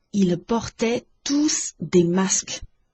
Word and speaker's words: tous: s 是要发音的 Ils portaient tous des masques。